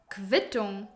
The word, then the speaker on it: Quittung: And Q, U is actually pronounced as Kv most of the times. I know, this one is actually really funny. For example, Quelle, Sauce, Quittung, Receipt, Qualität, Quality.